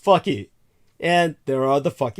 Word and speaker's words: Phuket: Phuket, as many people call it, Phuket. That's not how it's pronounced. In Thai, it's actually pronounced like Bangkok or Patpong. Just another obscene name. It's pronounced fuck it.